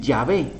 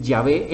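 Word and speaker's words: Yahweh: día de hoy y ellos dicen ya ve y se escucha y sabe entonces por eso es que nosotros preferimos decir llave en lugar de jehová por ejemplo otra cosa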